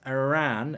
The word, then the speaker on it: Iran: hi Mark I'm Iranian can you pronounce the word Iran as Iran that's the correct pronunciation thank you Iran Iran I